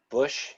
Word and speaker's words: Bosch: And then I bought the, is it, how you pronounce it? Bash. Bosch or Yeah, Bush? Bush.